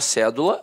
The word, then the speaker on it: cédula: Aí, a palavra cédula, notoriamente, é uma proparoxítona. A sílaba tônica está na antepenúltima sílaba.